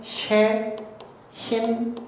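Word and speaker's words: שחין: 히브리어로는 쉐힌 이렇게 읽습니다. 여기에 있는 요 갈고리 같은 거 있죠. 삼지창 같은 거. 요거는 쉬 발음이 나요. 요거는 H 발음, 요거는 N 발음. 그러니까 이쪽에서부터 이쪽으로 읽습니다. 그래서 쉐힌 이런 식으로 읽혀요.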